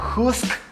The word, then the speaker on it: Husqvarna: de este vídeo no saben cuántas veces he escuchado que pronuncian mal esta marca que no es usar nada no es juzgar nada y varna go pero la pronunciación correcta es justa pues las marcas de